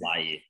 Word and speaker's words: Laryea: he's like, oh, like the Ghanaian pronunciation is, and he tried to say Lai, but couldn't really say it either. Like, no, it's Lai. But the English way is Laryea, and he's like, okay, it sounds good.